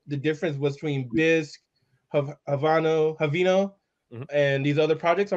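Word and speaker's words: Haveno: You know how to pronounce it, Doug? Havino.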